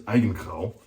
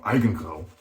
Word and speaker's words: Eigengrau: So the pronunciation is Eigengrau, or Eigengrau, pronunciation on the first syllable, or emphasis on the first syllable.